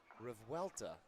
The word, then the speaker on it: Revuelta: I asked Brooke how to pronounce her name. She told me. I said, it sounded like Revolta. Christian, what was the pronunciation on Brooke's name? Did you hear it? Revuelta. Yes. I said, well, I'm just going to stick with Revoluta because I think that sounds cooler.